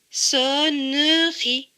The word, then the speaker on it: sonnerie: Là, on voit un E écrit en bleu, donc il ne se prononce pas. Cela donne comme mot so, ne, ri. Sonnerie.